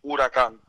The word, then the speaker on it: huracán: It's hurricane in Spanish, huracán. Huracan.